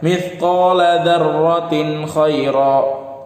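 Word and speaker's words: مِثْقَالَ ذَرَّةٍ خَيْرًا: Kalau orang yang enggak tahu dia akan baca mithqala dzarratin khaira, dzarratin syarra. Itu kalau orang yang nggak tahu hukumnya. Kita udah tahu hukumnya, kita baca langsung dipraktekkan. Mithqala dzarratin khaira, dibaca jelas tanwinnya.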